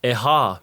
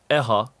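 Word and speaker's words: ʻehā: Another great example, eha means the number 4. If not said correctly and pronounced as eha, eha means pain, painful, or injury.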